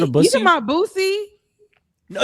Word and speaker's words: Boosie: I it's- love Boosie. It's pronounced Bussy. I'm pretty sure he pronounces it that I way.